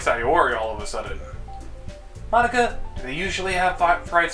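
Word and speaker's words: Monika: Ma Inca. I love it! That's not how you say my name at all! Also, that joke makes no sense in translation. Monica...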